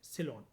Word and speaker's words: Ceylon: सिलोन। Spelling है इसकी CEYLON।